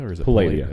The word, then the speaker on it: Palladia: channel, and I had Palladia, which is now MTV Live because they got bought out. Is it Palladia or is it Palladia? Is it Palladia. Putting the accent on the wrong syllable.